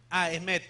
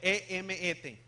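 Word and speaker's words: אמת: Emet. E-M-E-T. Así como se oye. Emet. Emet. M, así como M.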